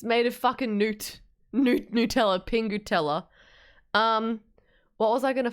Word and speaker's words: Nutella: You know, some Americans say Nutella instead of Nutella, which is so funny because it just implies to me, like, do you say newt instead of nut?